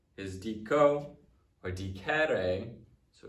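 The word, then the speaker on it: dicere: All right, and then number 2 is diko or dikere. So it's not in the same conjugation as that first one because it is a short E before the RE as opposed to a long E.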